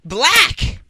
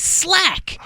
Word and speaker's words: 6lack: His name is Slack, Six Slack, and I was like, oh. Okay, that's not it. It's pronounced Black.